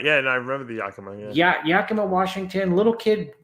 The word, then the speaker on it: Yakima: Yakima, is that how you say it? You're right. Yeah, and I remember the Yakima.